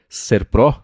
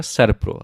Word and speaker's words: Serpro: ajudou com uma coisa falei serp na semana passada ele me corrigiu falou que é Serpro essa a pronúncia certa então fica aqui eu